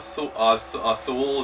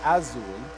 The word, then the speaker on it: azul: What color in Spanish is Sewell? Is that pink or something? There's 2 things wrong with your statement. One, the color pronunciation that you're looking for is Azul instead of Sewell.